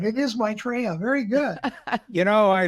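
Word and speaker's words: Maitreya: Yeah Rob can you pronounced his name right. It is Maitraa.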